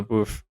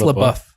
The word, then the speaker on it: LaBeouf: Shia LaBeouf. How do you pronounce his last name? I think it's LaBeouf. LaBeouf.